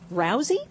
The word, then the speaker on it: Rousey: plywood Hut is um Olympic gold medalist Ronda Rousey is that how you say it yes it